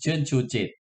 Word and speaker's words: Chernchujit: you thank you patrick so my surname is chun chuji yeah it's not easy right so thank you